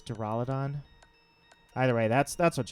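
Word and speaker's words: Duraludon: this draal Adan I I want to call it dural udon but I guess the official pronunciation is to Rolla Don either way that's that's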